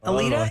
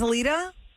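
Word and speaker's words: Elida: Alita. E L I D A. Unless you spelled it wrong. Don't ask us. Hi. What's your name? Alita. Hi. Is this Alita?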